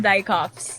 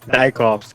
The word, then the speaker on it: Dijkhoffz: Yeah, it's Dutch. Okay, all right. That It's, was it's, it's pronounced Dijkhoffz. Dijkhoffz.